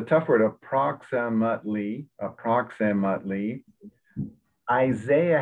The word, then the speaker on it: Isaiah: word of proximately approximately isaiah has the emphasis on the front so it's isaiah in english and that word it's